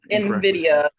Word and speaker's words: Invidia: was from November 11th 2020 when you wrestled Nvidia is that how you pronounce it I apologize if I'm saying it wrong Nvidia right Nvidia but it was in October yeah